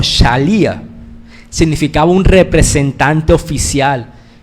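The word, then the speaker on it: שליחא: Había una palabra en arameo, que algo así que se pronuncia como shalía, significaba un representante oficial.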